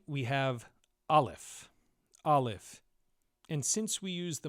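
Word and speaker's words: א: Olaf is a silent letter.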